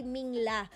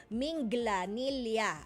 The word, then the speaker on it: Minglanilla: Ganun pa ang pronounce, hindi Mingla, Minglanilla, ayan, sa Cebu.